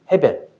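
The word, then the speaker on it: הבל: 이제 이스라엘 발음으로는 헤벨인데 그니까 전도서에 보면 이거 있죠. 헛되고 헛되니 모든 것이 헛되다. 그거 그때 그 헛되다가 바로이 아벨입니다. 헤벨.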